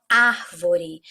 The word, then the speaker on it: árvore: Aqui também, ó, a palavra árvore. Árvore. A sílaba forte é o ar.